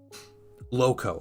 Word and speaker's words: Loco: Is that Lauco or Loco? How do you pronounce it? He painted a Glotkin. Oh, cool. That's super cool. Loco. Okay, Loco. All right. Like Loco, like crazy Loco.